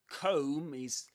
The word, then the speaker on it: comb: And do let me know in the comments if you knew this, if you knew that comb has a silent letter.